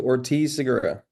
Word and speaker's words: Ortiz-Segura: Now, the hyphen is just there to ensure that you pronounce both individual last names correctly. So it's not Ortiz Segura, it's Ortiz Segura, right? Either way is fine. However you want to say is good.